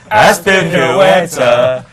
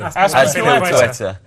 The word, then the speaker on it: Azpilicueta: His name is Cesar Azpilicueta.